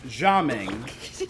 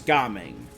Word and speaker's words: Gaming: can culture so that the Cantonese pronunciation is gaming not jaming so we're going to go with gaming and I believe that's